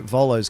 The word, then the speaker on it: Volo: I already know Volo's going to be fun. Why? Because his name rhymes with Rolos, and I'm going to be like, brand new Volo cookies.